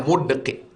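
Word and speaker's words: مدقع: Wa qauluhu mudqi, tadi ada disebut dalam hadis itu mudqi bi dhammi awalihi mu, sukun dal mud, kasril qaf qi, mudqi, cara membacanya mudqi.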